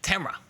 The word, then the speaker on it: Tamara: Tamara, that's you. Thank you. You even pronounced it correctly. I know. It's like camera, but with a T.